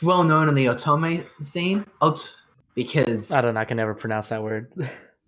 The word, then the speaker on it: otome: Code Realized, if you don't know, is it's well known in the otome scene. Because I don't know. I can never pronounce that word.